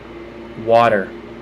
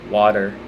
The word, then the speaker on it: water: Water. Again, with the T's being a D. Water.